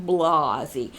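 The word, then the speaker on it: Blasey: Christine Blasi Ford and yes that is Blasi Ford as in Blasi Blasi Ford testimony that's how I say her name Blasi anyway testimony regarding her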